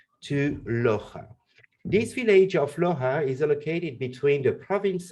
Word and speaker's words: Loja: which is called Loja, L-O-J-A. Always complicate to pronounce Loja, the Jota.